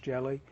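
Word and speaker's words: Ge(Li): Jellies, pronounced jelly, were used before high-purity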